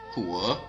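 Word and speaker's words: 火: Now, let's take a look at the pronunciation. The 5 faces are Mu, or wood, Huo, or fire, Tu, earth, Ting, metal, and Shui, or water.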